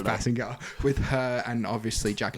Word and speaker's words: Basinger: Kim Bazinga and like Bazinga. I don't know if that's how you pronounce it, but that's what we're going with. Maybe? I think it's Basinger.